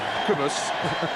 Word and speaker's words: Cobus: But one thing that struck me, we all think of Cobus, thank you for the pronunciation, Alan, Cobus, that he's not as enormous as Martin Bayfield,